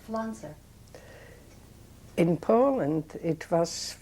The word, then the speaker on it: Pflanzer: nobody knew how to pronounce it, how to spell it. And that's when I became. How do you spell Pflanzer?